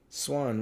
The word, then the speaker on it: swan: Swan. One of them words where it the A is not pronounced a, it's pronounced all.